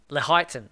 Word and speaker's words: Lehighton: in the is it Leighton? Is it? I think it's. How do you pronounce this? You're better than I am on these pronunciations. Is Lee that Heighton. Lehighton? Okay, and that's Lee in Heighton.